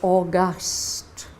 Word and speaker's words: august: speaking her voice is august this is the same spelling as the month of august but the pronunciation is different august is the noun